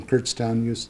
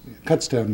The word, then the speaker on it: Kutztown: Then has his master's degree in economics from Kurtztown Kutztown University, Kutztown, Pennsylvania.